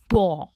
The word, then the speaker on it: pour: आगे बढ़ते और देखते हमारा नेक्स्ट कंफ्यूजिंग पेयर, जो है पॉ और पॉ। अगेन हम इसमें R प्रोनाउंस नहीं करते, इसकी प्रोनाउंसिएशन है पॉ।